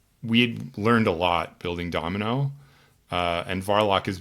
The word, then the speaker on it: Dmno: So it's pronounced Domino and not D M N O.